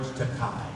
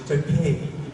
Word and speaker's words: Takei: It's Takei. It rhymes with toupee.